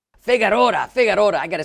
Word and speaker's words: Figueroa: Today we're having a great interview with Rafael Figueroa. That's not right. How do you say it, Rafael? Figueroa. Figueroa.